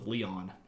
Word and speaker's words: Leon: Leon but I think they actually pronounced themselves Kings of leyon the the band that